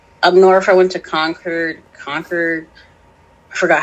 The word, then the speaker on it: Concord: I'm like, especially up north, I went to Concord. I forgot how to say that. Concord, because you don't pronounce the R, Concord.